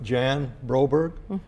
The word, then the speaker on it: Jan Broberg: today we're speaking with Jan Roberge I pronounced that correct you did good job thank you I need